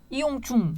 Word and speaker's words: 이용중: 발음이 안 돼요. 이용중. 그러니까 그게 발음이 안 돼갖고 이용준으로 하신 게 당연히 그렇게 듣고요.